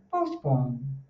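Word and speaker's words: postpone: Então, olha só que interessante, você não fala pô, você faz o som com choque, mais suave, então é um post. E o outro o ele é um Então fica postpon. Qual é o stress? A segunda.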